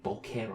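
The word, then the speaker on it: bokeh: the B is amazing I keep thinking I'm saying B it's right it's B it's how you say it's Japanese b b b it's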